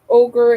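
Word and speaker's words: ohGr: the tricks tour um ogre it's spelled o hgr it is um skinny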